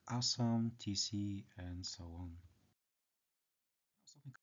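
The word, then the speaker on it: аз съм: In Bulgarian it sounds like asam, tc, and so on.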